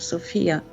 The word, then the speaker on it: Sofia: By the way, Mark, may I correct you about the pronunciation of Sofia? It's actually Sofia.